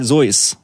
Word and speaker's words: Seuss: Josh brings clarification to this and it's actually Zeus that's right dr. Joyce is how you pronounce his name in I think it's not